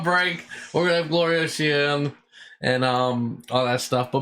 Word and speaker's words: Shea: Is that how you pronounce it? It's Shea.